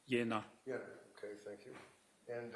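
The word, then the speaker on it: Jena: v a t e r a medical in Jenna j e n a German yeah it's pronounced yenna yenna okay thank you and um this was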